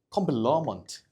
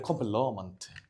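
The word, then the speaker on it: complement: 그래서 얘는 컴플러먼트, 러라고 읽어요. 신기하죠? 이게 발음 기호가 이렇게 들어갈 거거든? 얘는 발음 기호가 그냥 I예요. 그래서 얘는 컴플리먼트, 얘는 컴플러먼트, 이런 식으로 외워주면 돼.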